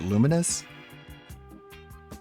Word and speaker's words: Lumines: I I always thought this was pronounced Lumines. It's a background music chat. But uh VR, apparently Tevin pronounced it luminous.